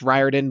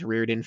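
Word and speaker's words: Riordan: It's Ryarden, but I've pronounced it as Reirden for years, so I need to work it into my head to do it right.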